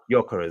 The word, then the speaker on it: Gyökeres: Those two strikers were Yeah, Arsenal got Gyökeres. Gyökeres, that's it.